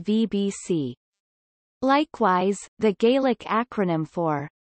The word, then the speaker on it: BhBC: genitive case would be written as BHBC Alba, with the acronym pronounced VBC.